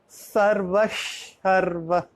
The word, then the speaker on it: सर्वशर्व: After Visarga there is Sharva, so it will be pronunciated as Sarvasharva. There is a half sh instead of Visarga.